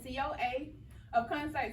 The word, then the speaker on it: Coaofconcerts: So we have Alexis Renee and Coaofconcerts.